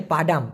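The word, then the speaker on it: padam: দেখুন একটা আছে হচ্ছে পাডাম পি এ ডি এম উচ্চারণ হবে পা ডাম এই পাডাম মানে মূলত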